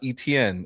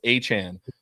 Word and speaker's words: Etienne: He said, it's not Etienne. It's actually pronounced Achan.